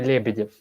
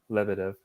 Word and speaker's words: Lebedev: it's like like in in english pronunciation would say okay levitive and that's not too bad right yeah yeah that's not not too bad but still not uh not russian way i said the english